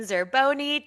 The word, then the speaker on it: Zerboni: Please welcome Ashton Zerboni to the podcast.